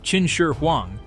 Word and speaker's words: Qin Shi Huang: To truly appreciate the tomb of Qin Shi Huang, pronounced Qin Shi Huang, we must abandon any notion of magic.